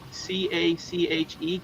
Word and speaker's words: cache: C A C H E Cashache Cache.